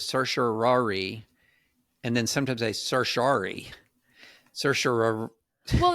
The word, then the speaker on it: certiorari: and then sometimes I certiorari. Certiorari. Well, it's really that question between 4 syllables and 5, right? There's certiorari, and then there's certiorari. Like you can have that O in the middle.